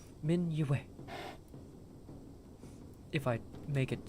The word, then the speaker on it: Min'Yue: It is a little difficult, I've noticed, for people who only have spoken common in their lives, as it's not a Y that is a syllable to itself, as I've noticed most other Y sounds in common are. It is just a part of the syllable for way.